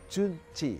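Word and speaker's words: 春节: semi yang disebut dengan Chunji Hai Bacanya adalah junci gitar Oh ya artinya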